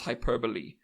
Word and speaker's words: hyperbole: I know it is spelled hyperb but it's Hyperbole and hyperbolic um because English